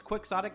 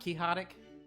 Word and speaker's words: quixotic: Yeah, but it's the sort of thing where does it bother you that it's quixotic and not quixotic?